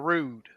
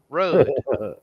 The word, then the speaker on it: Rudd: Rudd or Rude? Rudd. Oh, when you said a little while ago, What you I said say? rude. Oh, no, I don't Yeah. mean like rude. Rudd.